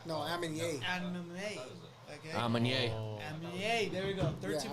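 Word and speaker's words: Aminé: I always say his name wrong. You always tell me how you say his name. It's Anime. Anime. Yeah. No, Aminier. Anime. Okay. Amanye. Amine, there we go.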